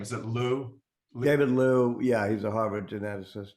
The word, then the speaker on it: Liu: But one of the things I remember you talking about at the Harvard bookstore talk, and I can't pronounce the gentleman's last name. Is it Lu? David Liu, yeah, he's a Harvard geneticist, yeah.